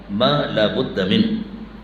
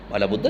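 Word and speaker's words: ما لا بد منه: اس کا صلہ ہے، موصول و صلہ کو الگ کر کے بولنا چاہیے، ما لا بد من، صحیح تلفظ کرو، یہ ہے کتاب کا نام، مالا بدھا کیا چیز۔ ہمارے ہاں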